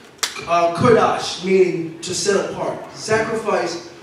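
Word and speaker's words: קדוש: a little bit hebrew it for holy is pronounced uh kurdash meaning to set apart sacrifice for the work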